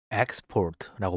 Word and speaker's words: export: 결과물이나 수출을 의미할 때는 export고 발음하고 내보내다 수출하다 같이 동사로 사용할 때는라고 발음합니다 일반적 으로 영어는 동일한 단어가 명사로 사용될 경우에는 첫 번째 음절의 악센트를 동사로 사용될 때는 두